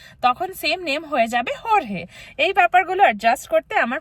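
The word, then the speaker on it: Jorge: তখন same name হয়ে যাবে হরহে।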